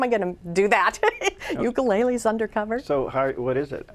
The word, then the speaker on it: ukulele: the third book is called Ukuleles Undercover, which in Hawaiian it's pronounced ukulele. So, but I always, because we say it as ukulele, that I kind of use it that way.